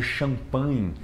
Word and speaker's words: champagne: É o caso de champagne, que tem o champagne, né? Que tem um Gzinho. É a mesma lógica. Então tem o GN, muita do inglês vem do francês, o inglês tem várias origens no francês, então esse G ele é ignorado.